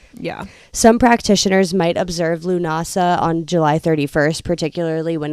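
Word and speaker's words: Lughnasadh: the first one is Lunas NASA which I said wrong I I was trying to pronounce it my head I'm like lunasa lunasa so that one is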